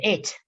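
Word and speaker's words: את: So what I was going to say is, es is how the Ashkenazi people pronounce it, et.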